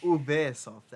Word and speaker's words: Ubisoft: Ubisoft, actually. It's actually pronounced. I was right.